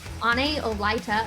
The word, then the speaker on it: Ane Olaeta: athletes that we're going to have on so any olyta again i want to make sure we get that one correct we've been mispronouncing it for quite some time now but